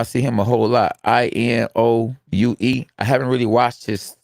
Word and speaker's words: Inoue: The Anik, His name is spelled I-N. Yeah, I know. I see him a whole lot. Inoue.